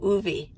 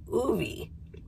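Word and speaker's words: Ove: I think because I listened to the audiobook, I think his name is O-V-E, and it's Scandinavian name, and I think they pronounced it Ovi.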